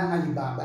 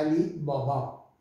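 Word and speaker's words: علی‌بابا: B com alef, ó, bó, então é bó, bó, a gente fala Alibaba, não é Alibaba, é Alibobó, Alibobó, e os 40 ladrões, né, Bacheiro 12 de Bagdó, 40 ladrões de Bagdá, Bo, esse é bo.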